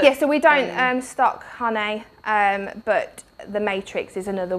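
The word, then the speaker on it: Jané: I'm sure, is that how you pronounce it? Hane, rather than Jane?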